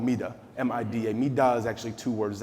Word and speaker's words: MIDA: It's two syllables. It's easy. It's 4 letters.